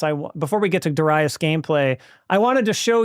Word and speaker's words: Darius: This is Das pronounced Duras, by the way. I know a lot of people say Darius, and I'm not I'm not here to be the pronunciation police.